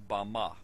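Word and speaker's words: בָּמָה: in the Strong's Hebrew dictionary and it is pronounced Bama Bama is most commonly used to refer to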